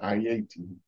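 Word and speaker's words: Ayiti: call it hey because that's not the correct pronunciation of the name it's I-80 so every time I say Haiti I hear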